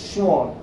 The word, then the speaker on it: Schwann: scientist's name has schwann its pronunciation is shawn schwarm proposed that not